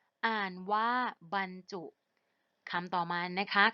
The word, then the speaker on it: บรรจุ: บ่ รอ หัน บ้าน จอุ จุ อ่างฯ ว่า บรรจุ คำ ต่อ มา นะ คะ คำ ว่า บรรทัด ค่ะ สะกด ว่า บ่ รอ หัน บ้าน ท่อ อะ